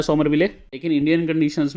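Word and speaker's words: Somerville: bowling में दोस्तों Saudi, Jameson, Wagner 3 pacer हैं, एजाज और विलियम सोमरविले हैं, समरविले नहीं है ये भैया, स्पेलिंग थोड़े ये मेरे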